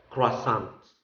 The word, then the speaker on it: croissant: or true so uh in an english-speaking country like america the more popular pronunciation is croissants okay but um some